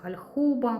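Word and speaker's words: Hallhuber: Німецький бренд. Е, по-німецьки читається Хальхуба.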